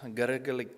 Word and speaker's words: Gergely: Next presenter is Gergely Kovács with the presentation topic, the potential of XR, AI, and digital twins in education.